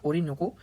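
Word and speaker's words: Orinoco: कि सबसे लंबी नदी वेनेजुएला की वो है ओरिनोको या ओरोनिको, जो भी प्रोनाउंस करना होता है।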